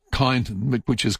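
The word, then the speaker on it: Kyneton: It's nothing like Kiton, but which is K Y N E T O N.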